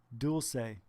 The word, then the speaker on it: Dulce: Dulce. That's how you pronounce it.